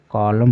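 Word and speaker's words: column: पर क्या है कि वर्ड के अंत में अगर एम के बाद एन हो तो एन का उच्चारण नहीं होगा यानी कि यहां पर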